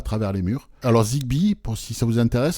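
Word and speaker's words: Zigbee: Alors Zigbi pour si ça vous intéresse, ça s'écrit Z I G B2. Zigbi.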